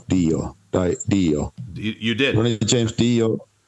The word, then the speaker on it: Dio: How do you pronounce Dio? Dio.